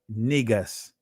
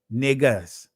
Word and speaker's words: Negus: That's the in Amharic or Ge'ez, it's pronounced Negus. Negus.